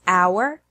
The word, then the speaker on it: hour: There are also some words that have a silent H in English, such as hour, honor, honest, herb, air.